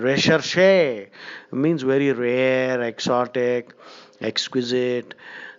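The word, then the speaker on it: recherché: Recherche, the pronunciation is recherche, means very rare, exotic, exquisite.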